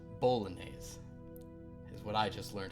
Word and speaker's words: bolognese: pronounced bolognese, is what I just learned.